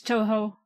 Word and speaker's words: Touhou: I think it's Toho. EA. Toho.